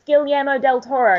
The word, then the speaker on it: Guillermo del Toro: It's Guillermo del Toro. Guillermo. Okay, that's how you pronounce it.